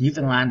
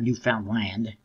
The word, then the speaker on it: Newfoundland: Which is, it's Newfoundland, not Newfoundland. Or Newfoundland. Whatever you want to pronounce it, but, it's a Canadian province, in case you're not familiar with it.